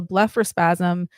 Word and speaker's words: blepharospasm: And that's apparently how it's pronounced as well. So blepharospasm, you probably know, but is the term used to describe involuntary movements of the eyelids.